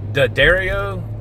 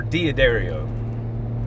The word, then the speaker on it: D'Addario: I've heard people say this two different ways. D'Addario or D'Addario.